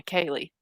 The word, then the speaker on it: Kaylee: There's a possibility that I've always thought when I saw the pictures of Maddie and Kaylee, is that how you say it? Yeah, Kaylee.